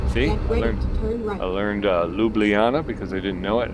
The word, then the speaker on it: Ljubljana: I mean, if I'm not sure of the name, how to pronounce it, I want to, Ljubljana. See? I learned Ljubljana because I didn't know it.